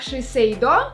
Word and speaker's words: Shiseido: Если я не ошибаюсь, эта марка произносится правильно, как Shiseido.